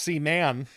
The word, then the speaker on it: Seaman: am not familiar with caman well I believe it's pronounced C man well I'll work on